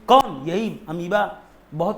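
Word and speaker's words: amoeba: बेटा यहां तक कि समझ लो अमीबा, एमोईबा, अमीबा, ये तरीका है ताकि स्पेलिंग गलत ना हो, एमोईबा जिसे अमीबा बोलते हो।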